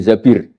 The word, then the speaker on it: Zabir: nikah sama Abdurrahman bin Zabir di hadis ini bukan Mbak Bacanya bukan Zubair tapi Zabir. Abdurrahman bin Zabir.